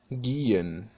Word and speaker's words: gehen: Recuerden que el sonido que nosotros hacemos a veces cambiando la pronunciación de una G por una J, por ejemplo en agenda. Recuerden que en alemán este sonido nunca cambia, siempre se mantiene el sonido de G.